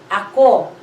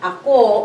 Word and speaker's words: ako: It's a two-syllable word. A and then ko. Okay? So a and then ko. Ako.